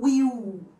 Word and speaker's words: will: fala Brasil e aqui a gente tende a falar Will transformar o l em u a a essa pronúncia fica errada a gente vai marcar esse l no final das palavras Brazil e o auxiliar de futuro Will também precisa ser marcado não é I will